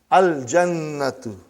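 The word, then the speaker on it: الْجَنَّةُ: Brother, you will pronounce lam. Al-jannatu.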